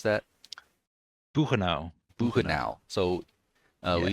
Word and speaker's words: Buchenau: how do you pronounce that? Buchenau.